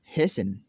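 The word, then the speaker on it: hasten: तो नाज़रीन हमारा रूल नंबर 13 है, वो ये है, अगर किसी लफ्ज़ के आखिर में TEN हो तो T हमेशा साइलेंट रहेगा।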